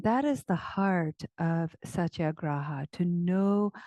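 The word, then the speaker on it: satyagraha: It's called Satya Graa. And it's spelled S A T Y A G R A H A. Satya graa.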